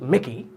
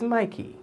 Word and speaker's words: Mikey: all over it Mikey it's not Mikey no is it Mickey it's Mikey you know say it with meaning Mikey let me hear you say it Mikey Adonna Agnes Janelle you